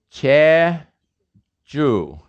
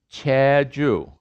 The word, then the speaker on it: Jeju: of korea and uh how's it pronounced cha choo c h e j